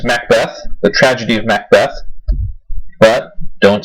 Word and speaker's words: Macbeth: first this Macbeth but the Scottish name to pronounce Mac not Nick or Mick Mac Beth now there's